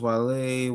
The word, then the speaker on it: Guale: It's pronounced Wale, were an indigenous nation who lived among the Georgia coast and sea islands from Savannah River down to St.